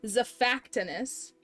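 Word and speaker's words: Xiphactinus: this Z fact tennis the emphasis is on the second syllable Za factus there's no way the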